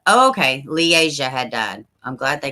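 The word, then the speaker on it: Li'Aziah: building leading to the apartment, not knowing how, pronounce Leasia. Oh, okay. Leasia had died.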